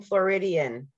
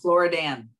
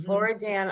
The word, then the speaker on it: Floridan: I thought you were mispronouncing Floridian. Right, I know, Floridan. Mm-hmm. Floridan aquifer, which is, correct.